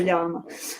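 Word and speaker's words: Llama: Apparently Robin said it's like the alpaka animal. So it is a ylama.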